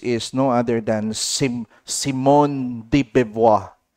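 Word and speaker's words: de Beauvoir: This is no other than Simon de Bevois. Other pronounces deb. Pero ang normally nakikita ko sa YouTube is Dibua.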